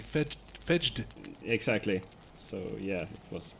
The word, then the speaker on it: Fejd: It has a J in there, so it would be Fedged.